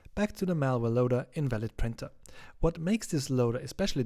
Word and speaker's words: in2al5d p3in4er: In this video we talk about this malware loader, which is pronounced invalid printer.